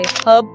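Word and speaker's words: herb: 1 British और American English में कुछ वर्ड्स अलग तरह से प्रोनाउंस होते हैं, जैसे हर्ब में अमेरिकन्स H साइलेंट रखते हैं लेकिन ब्रिटिश नहीं।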